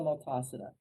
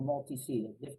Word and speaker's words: multocida: So the major mouth organism that gets people in trouble from pets is Pasteurella multocida, or multicida. People pronounce it different ways.